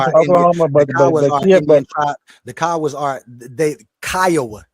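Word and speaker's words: Kiowa: That the Oklahoma Theas are they Kya, not Kioa.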